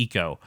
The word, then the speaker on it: Ico: as a character named eco we always said aiko because that's a very americanized way of saying